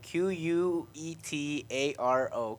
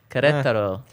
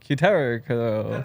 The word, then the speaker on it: Querétaro: Querétaro. Querétaro. Kataro. Querétaro. Actually, RK said it pretty decently. Querétaro. I have I experience. think I nailed it. And then Henry? Kataro.